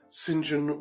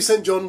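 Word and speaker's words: St John: So uh Arthur Elin Singen War I don't know if it's pronounced Singen. I'm getting that from a Bond film but it might be St. John but I think it's Singen War.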